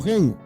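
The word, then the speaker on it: חֵן: un sinónimo de Gen se pronuncia como Gen en el griego chiris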